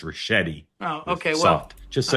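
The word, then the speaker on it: Ricchetti: I I will politely and and gently say tell you the name, his name is pronounced Rashetti.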